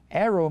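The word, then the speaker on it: αἴρω: Take is the word A-I-R-O. Arrow means to lift up in the air. Lift up in the air. We probably get our word A-R-R-O-W, arrow. It's pronounced the same way.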